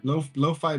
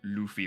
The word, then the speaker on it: lo-fi: Is that how you say it? Lo-fi? Lo-fi beats. Yeah. I thought it was like Luffy or something. No. Lo-fi. All right, the dash made it look Low really fidelity, weird.